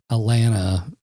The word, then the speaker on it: Alana: Kind of like Alana is like Atlanta. Yeah, without the T.